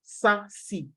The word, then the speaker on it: SASE: um cyber security then sassy is secure access service edge pronounced sassy and it's just an